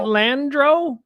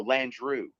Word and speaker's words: Landrieu: like they got this isn't that landro or you just said landry or am i pronouncing that wrong too no lan drew yeah yeah yeah yeah